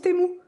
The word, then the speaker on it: Temu: ma commande temu hier apparemment ça se prononce temou franchement je savais pas du tout mais je sais pas ça fait bizarre donc du coup je continuerai de dire temu donc ouais j'ai reçu plein